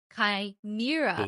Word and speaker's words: Chimera: I want to acknowledge my pronunciation of Chimera. So, I had to look it up. I didn't know. Looked it up and it is Kimra.